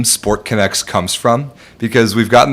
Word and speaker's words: SportConX: So our owner, coach, manager, John Tolentino, owns this company, this app, SportConX, that's going to be launching this summer. It's connects connects with an X for pronunciation.